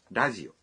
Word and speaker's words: ラジオ: Television dalam bahasa Inggris misalnya menjadi テレビ dan radio menjadi ラジオ Wah, R dalam radio diucapkan seperti L.